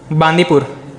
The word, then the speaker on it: बांदीपुर: एक है बकरी का ब से बांदीपुर, और एक है चरखे का च, बांदीपुर और चांदीपुर।